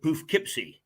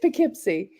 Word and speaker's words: Poughkeepsie: so I know now pronounce that again because I always say poofkeepsie yeah it's Poughkeepsie spelled p-o-u-g-h-k-e-e-p-s-i-e so yes I I I've always